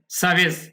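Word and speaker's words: service: foreign তারপরে কি আছে সার্ভিস এখানে আর উচ্চারণটা হবে না এট ফরেন সার্ভিস একাডেমী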